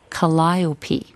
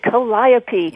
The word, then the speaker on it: Calliope: And this one happens to be Calliope. There we go. Good. Calliope. It sounds right, doesn't it?